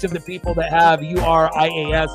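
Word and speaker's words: Urías: And I have to spell it, so that way I remember how to say it. Luis, L-U-I-S, space, the letter U, space, R-A-Y, space, S. So that way I know the specific pronunciation.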